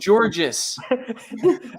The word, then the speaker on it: Georges: for so long it's just dude dustin is pronounced george his name is georges we got we got some nian controversy on